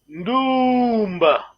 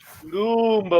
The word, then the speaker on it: Ndumba: Faut bien prononcer, ça va. La voix est longue, hein? Maman dit les gamins, prenez note. Ndumba. Ndumba, voix longue, attention, voix longue.